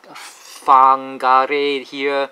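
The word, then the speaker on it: Whangarei: a Maori language, and when you see the WH in front, it's pronounced as F. So Wagaruru, Whakatane, Whangare here, so it's a F.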